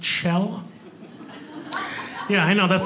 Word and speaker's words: Kjell: go my name is chell it's chell it's norwegian spelled k-j-e-l-l pronounced shell yeah i know that's